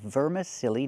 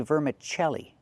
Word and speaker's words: vermicelli: He said vermicelli noodles. We don't say that. We say vermicelli. Chelli, use the ch sound, like chicken, plus the e e sound, like in red and ten, vermiche- vermicelli These are vermicelli noodles.